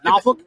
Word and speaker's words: Norfolk: not your fault yeah is it norfolk yeah norfolk or norfolk if it sounds like you're cussing you're probably saying it correctly well i i'd be